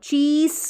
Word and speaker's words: चीज़: फिर देखिए सी एच को च ई ज, चीज नहीं, चीज, ज उच्चारण कर रहे हैं एस के लिए, चीज़।